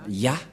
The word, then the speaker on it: Yah: C'est clair, d'après cette explication, et personne ne peut contester que c'est bien Ya, la prononciation.